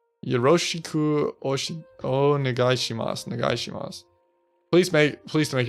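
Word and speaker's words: よろしく: Yeah, so Japanese pronunciation is Yoroshiku く o よろしくお願いします。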